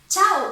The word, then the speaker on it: chau: Chau is very similar to the Italian ciao, but instead of an O at the end, you have a U.